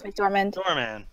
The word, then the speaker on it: McDormand: Frances McDormand.